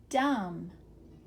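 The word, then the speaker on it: dumb: the top these are the MB words some of them which say mmm here we go dum plum Lim lamb num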